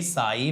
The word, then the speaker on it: psi: साई is equal to एल आई, इसे साई बोलते हैं, जो साउथ वाला नेम है ना SAI, वैसा ही साई, बट वो अलग बात है, इसकी जो स्पेलिंग होगी वो PSY होगी साई, बट आप साई समझो, साई बाबा।